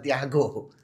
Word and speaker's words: Santiago: Yakobus yang sering kita sebut sebagai Santiago de Compostela. Jadi San Santo Thiago ya orang Spanyol bacanya Thiago.